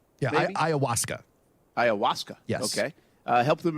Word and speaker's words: ayahuasca: Well, and what he says is this use of, I can't even pronounce it, the plant. Yeah, the plant's got a weird name. Yeah, like ayahuasca. Yeah, ayahuasca.